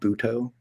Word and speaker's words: Butoh: of, it's really avant-garde form of dance called Buto. It's spelled Butoh.